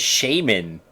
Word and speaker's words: shaman: actual thing thing and that's how it's said it's Shaman like that's we don't have